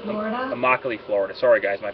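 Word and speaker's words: Immokalee: that for me please Deborah that would be amachi Florida amoc Florida sorry guys my pronunciation is terrible uh using Google Earth I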